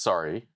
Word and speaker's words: SRRY: Uh it's pronounced sorry. Okay. Yeah, it's pronounced sorry, but it's a it's like sort of like an acronym.